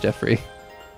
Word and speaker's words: Geoffrey: Actually just pronounced Jeffrey.